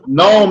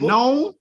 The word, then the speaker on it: known: The K is silent that you don't say the K in. So known messed y'all up then. Right, known.